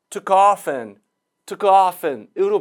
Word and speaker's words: took off and: 그래서 off하고 약화된 은이 만나니까 often 자주, 종종이라는 often하고 발음이 같아져서 최종 발음은 took often으로 발음이 되겠습니다.